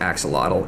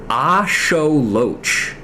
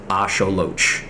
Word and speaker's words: axolotl: something up fun fact did you know that that word is actually not pronounced Axel it's pronounced AO Loach at least in uh the uh Native pronunciation of uh nutal nah I don't know how to pronounce that uh but Aztec in the the Aztec language that it originates from it is pronounced Asolo am I going to